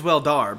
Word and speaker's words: Weldar: Is it pronounced Welder or Weldar? He is Weldar, but he's a welder.